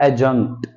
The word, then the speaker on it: adjunct: एडजंक्ट। D silent होगा, एडजंक्ट। एडजंक्ट नहीं बोलेंगे।